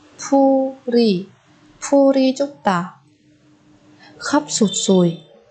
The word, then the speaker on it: 풀이: Ở đây chúng ta nối âm 풀 và y thành 풀이.